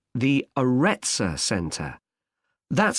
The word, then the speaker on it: Arretsa: It's called the Aretsa Centre. That's spelled Arretsa.